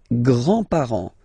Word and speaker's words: grands-parents: Les grands-parents. Les grands-parents. Remember, you don't pronounce this final S here.